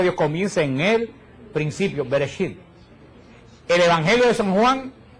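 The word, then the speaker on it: בראשית: El Génesis en hebreo se dice Bereshit. Bereshit se dice que la palabra Bereshit quiere decir en el principio. Así comienza, la palabra de Dios comienza en el principio, Bereshit.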